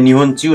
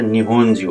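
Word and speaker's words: 日本中: निहोन जिउ यहाँ पनि निहोन चिउ नभएर निहोन जिउ अर्थात् पुरै अल ओभर द जापान जापानभित्र भन्नेलाई यहाँ पनि जिउ भन्ने उच्चारण हुन्छ यसको अर्को छ सेखाई जिउ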